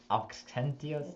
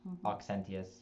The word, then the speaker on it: Auxentius: But Eustratius, Auxentius, Eugene, Mardarius, and Orestes. Yeah. We made a decision in Pittsburgh to try and pronounce all the U's as F's or V's. But it gets really hard with Auxentius.